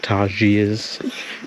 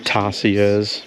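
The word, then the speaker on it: tarsiers: from a distance so they're actually pronounced ters not tarus and I reckon we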